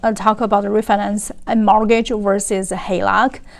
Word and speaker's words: HELOC: the differences between ref finance a home versus halock home equity line of cred Oh yay me